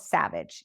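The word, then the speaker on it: Xavage: you can do um this first one is called Savage it's spelled with an x x a v a g e Savage um they have white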